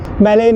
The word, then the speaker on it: Mollem: South Goa के हिस्से को बोला जाता है मूल, मोलेम वैसे है MOLLEM, ये स्पेलिंग है, लेकिन प्रोनाउंसिएशन उसका मोल होता है।